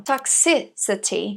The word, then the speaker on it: toxicity: Toxicity, a segunda sílaba que é a mais forte.